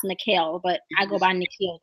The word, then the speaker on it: Nikil: I go by Nikil too, but it's pronounced Nikil.